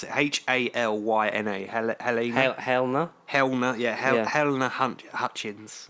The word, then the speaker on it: Halyna: Helena, I can't even pronounce it. Halyna, Helena.